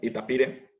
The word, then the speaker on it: itapire: También está el tapir, que la pronunciación en el guaraní es itapire.